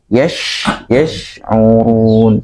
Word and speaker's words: يشعرون: Shin itu bahkan harus memiliki sifat mengalir ya, mengalir ketika mengucapkannya. Shin ketika pun yash. Nah, ada aliran nafas ya. Yash. Jadi bukan yash, bukan yash ya. Yash'urun bukan yash, tapi yash'urun gitu ya.